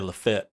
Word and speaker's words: Lafayette: ringgold okay yeah so you didn't say it right though you gotta say la fete lafayette but at least it's not laughing yet well that's the proper